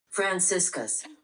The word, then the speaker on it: Franciscus: Oh gosh, how do you pronounce this? Franciscus?